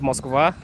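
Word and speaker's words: Москва: In Russian, it's Moskva.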